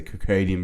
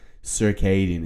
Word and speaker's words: circadian: adopting these let's say crocadian rhythm habits circadian actually i think the the actual if i've been saying crocadian i don't know where i got that from circadian is the proper bbc pronunciation circadian rhythm habits so